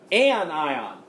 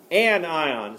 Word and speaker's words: anion: Anion. Anion is how you say that next one.